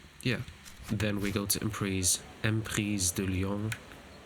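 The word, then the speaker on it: Emprise du Lion: And yeah, then we go to Emprise de Lyon, to pronounce it in French, because it is a French name.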